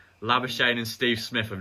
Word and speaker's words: Labuschagne: Labuschagne's been good. Short Steve Smith hasn't been the same since. Let's respect his South African roots. Labuschagne.